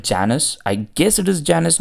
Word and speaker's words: Janus: we have got a model that is called Janis I guess it is Janis not Janis I'm not sure how do you pronounce it but I'm going to call it